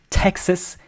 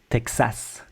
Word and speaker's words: Texas: It's almost like there's an H after the T like Texas.